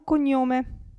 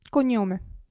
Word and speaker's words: cognome: pensate a Pizza razza qui gn Se vi ricordate che si pronuncia ni Allora abbiamo cognome cognome s c come ho